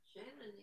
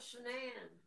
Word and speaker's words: Shanann: Shannon needs to calm her tits. Don't say her name. She does need to calm her tits, though. She needs to... No, I'm talking about Shanann. Shanann.